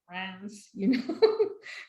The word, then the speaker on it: Reims: So within Champagne, you've got 3 primary growing regions, Montagne de Reims, and it's pronounced like Reims, kind of like it's an N, that is famous for Pinot Noir.